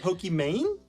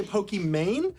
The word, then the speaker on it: Pokimane: your name pronounced imam my name is iman so it's the second half of the name i-m-a-n-e so it's meant to be like pokemon kind of like the game pokemon but i totally understand it reads as pokemane so when people say